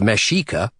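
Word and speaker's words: Mexica: I use the terms Aztec, Mexico, pronounced Mashika, and Nawas, to refer to specific groups of people within the Aztec Empire.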